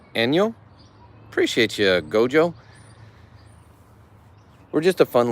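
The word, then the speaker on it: 안녕: I believe it's pronounced, correct me if I'm wrong, Gio, it's pronounced Enyo.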